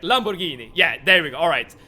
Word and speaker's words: Lamborghini: Alright, you both say G as in gay. Alright. But Lamborghini. That has to be correct. Lamborghini.